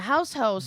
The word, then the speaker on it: Haus Haux: your Hostess anime we spell it differently here though it's h-a-u-s-h-a-u-x okay how's hell yeah house house German you know it's where